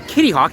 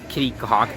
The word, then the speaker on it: Kitty Hawk: we next up is Kittyhawk yes it is Kitty Hawk not kitty kwk don't know why I'm